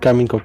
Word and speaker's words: Karmine Corp: I'm not sure, is it pronounced Carmine Corp? Carmine or Carmen? Carmine Corp, yeah. Okay, so this was founded